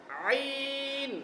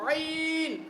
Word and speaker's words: ع: তো আপনারা দেখতে পাচ্ছেন তাকে আমরা বারবার চেষ্টা করছি যে আইনের উচ্চারণটা বের করার জন্য।